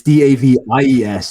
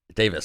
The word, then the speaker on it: Davies: Whereas like I'm like it's Davies, the British way. Davies. And pronounce it again. I think Davies. No, pronounce it though. Is it Davis or Davies? Davis.